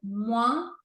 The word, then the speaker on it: moins: E de repente, coisas que eram regra para mim, como por exemplo, na palavra moins, de menos não se lê o S, de repente eu ouvia